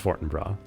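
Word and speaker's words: Fortinbras: Okay, it is pronounced Forenbr even though it's Norwegian. His men have been coming to my father's home to retrieve them. For what purpose? Mercy. Please, the water. Not yet. Fartonra, he's looking for weak points in the court.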